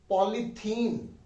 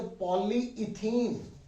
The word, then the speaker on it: polyethylene: Their pronunciation is not the ethene, not the polythene. You speak polythene. No. It is a polyethylene.